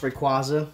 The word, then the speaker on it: Rayquaza: Drollet on and the require or if you pronounced rayquaza it doesn't matter to each his own potato